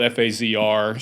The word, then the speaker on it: FAZR: names and it's spelled f a ZR so we we uh we took the sound pronunciation of phaser and shortened it to that F azr but that was the